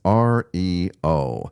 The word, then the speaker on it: REO: For an unexplained reason, the band chose to pronounce Rio as R E O.